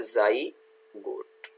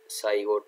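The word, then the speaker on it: zygote: तो यहाँ देखो मैंने दिखाया हुआ है आपका, ये जाइगोट है ना, यहाँ स्पेलिंग का मिस्टेक है, तो ये क्या है, जाइगोट, साइगोट नहीं होता है, जाइगोट।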